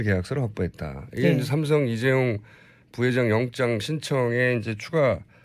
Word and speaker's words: 이재용: 동아일보가 그런 보도 하면서요 최순실 씨가 이재용 부회장 이름을 이재룡이 아고 주로 발음한다 그래서 이재룡이 VIP 만날 때